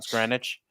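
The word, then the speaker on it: Greenwich: there's there's a town called green witch it's pronounced groun grenwich but it's funny because they have a bar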